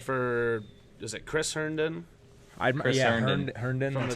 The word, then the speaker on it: Herndon: Herndon. That's how you pronounce it.